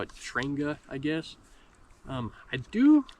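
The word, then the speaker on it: Trangia: into the system I don't know how you pronounce this it's t r a n g i a I call it shanga I guess um I do like this brand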